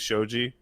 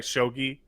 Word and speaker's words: Shogi: There's a fucking bit in Hunter x Hunter that's really bizarre that has to do with Shogi. Sorry, Shogi. Fuck. I said it wrong once, and now I'm pronouncing it that way on in which they want to build up how smart a character is.